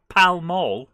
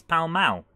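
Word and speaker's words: Pall Mall: al don't mind me so what's pal mal it's not pal mall it's pal mao yeah croaker a frogger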